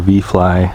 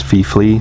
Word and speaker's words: VIFLY: park with a little VIFLY or VFly. I never know how to say it. I'm just gonna say VFly just because I think they told me it's VIFLY, but I just like saying VFly better.